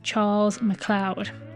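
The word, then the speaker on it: Charles MacLeod: in a previous episode I pronounced the name wrong I've been told it's Charles McLoud I hope I got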